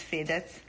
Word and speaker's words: Fedez: How do you pronounce his name? Federico. Fedez. Federico. Fedez. Like Fedez. In America we say Fedez, but it's Fedez.